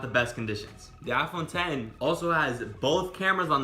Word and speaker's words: iPhone X: called the iPhone X I'll actually pronounce it iPhone 10 so I'll call it